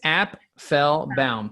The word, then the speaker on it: Apfelbaum: Yeah, it's Applebaum, 3 syllables. Okay. App to the fell to the baum.